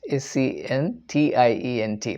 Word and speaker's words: sentient: If suppose the piece of paper on which I am writing or I write is a sentient object, S-E-N-T-I-E-N-T, pronounced sentient.